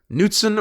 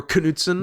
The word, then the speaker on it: Knutson: So shouts out to Olivia for requesting this from internet historian / Frederick Knutson or Knutson. Nietzsche. Sometimes you, or Nietzsche. Sometimes you pronounce the K, sometimes you don't.